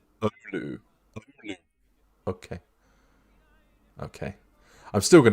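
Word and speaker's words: Oulu: Uh Oh, so it's just Yulu? Yulu? Rather than You need to pronounce pronounce the O. So, oh, it's Ulu.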